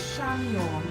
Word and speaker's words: Chamion: My first name is Shamion, and it is spelled Chamion.